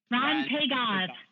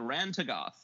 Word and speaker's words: Rhan-Tegoth: let you pronounce it because I can never pronounce it. Rhan-Tegoth. Yeah. Or what were you saying, DD? I'm sorry. Oh, I was saying the same thing you were. Yeah, I was saying Rhan-Tegoth.